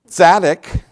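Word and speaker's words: צדי: need to remember that zadic uh begins like the sound at the end of pants and nuts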